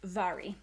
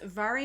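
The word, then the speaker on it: Mhairi: and i know that her name is not pronounced the way that it looks it's vari so her name is vary mcfarlane and i really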